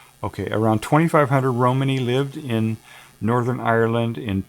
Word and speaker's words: Romani: I'm gonna look up that pronunciation of that word so I'm getting it right. Let's see if they've got it here. Oh, they got a whole thing here. Romani. Romani, okay.